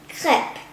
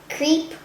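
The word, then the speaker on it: crêpe: france it is effective please pronounce clip not creep or crepe the tradition is if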